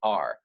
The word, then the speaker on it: Sugaar: So Sugaar, almost sugar, could be spelled like sugar, could be mayu, or could be sigio, or could be sorora.